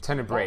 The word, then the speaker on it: Tenebrae: At one time, the Tenebrae Order had temples Tenebrae. all across Antilor. That's the pronunciation.